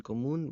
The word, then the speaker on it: común: Maybe porque tenemos, we have mucho en común, we have a lot in common, tenemos mucho en común with the accent on the U.